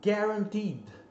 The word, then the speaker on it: guaranteed: Outra palavra muito interessante com o GUA é guaranteed. Guaranteed, né? De garantido, né? De garantia. Ó, guaranteed. Então não é guaranteed, é guaranteed.